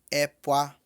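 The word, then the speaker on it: ẹ̀pà: Amendoim pronuncia-se epá. Epá. Tem gente que fala epá, tá? Eu não vou dizer que está errado, mas epá significa outra coisa. Epá é amendoim. Epá é outra coisa. Epá. Fala o epá, mas pronuncia ele mais rapidinho.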